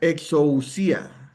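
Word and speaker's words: ἐξουσία: ¿Cómo se pronuncia? Exousia.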